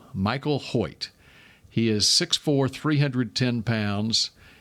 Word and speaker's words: Hoecht: Number 97, Michael Hoyt. That's how you pronounce his last name. Good job. Because I would not have known. Hoecht. Michael Hoyt.